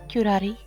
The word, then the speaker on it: curare: It was I who took the professor's life using curare. See, that's how it's pronounced.